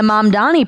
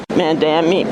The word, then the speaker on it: Mamdani: Babbel, people have a tough time saying the Mamdani part of Zoran Mamdani's name. These New Yorkers prove that to be true. Mamdani, Mandami. Is that how you say his name? Mandami? Mandami. Front runner, Mondoni. Another mispronounced word that even President Trump butchered earlier